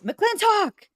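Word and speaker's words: McLintock!: wanted to say that you weren't you weren't pronouncing the name of the movie properly it's mclen talk you know you gotta m gotell m talk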